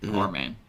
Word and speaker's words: Arman: Arman.